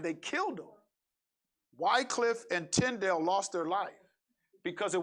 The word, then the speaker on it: Tyndale: wycliffe did it and tyndale tydell tydell it's tyndale tyndale tyndale he they did it